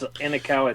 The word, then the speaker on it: Inekawa: It's Inekawa. It's I awaken. It's an I and awaken backwards. That's okay.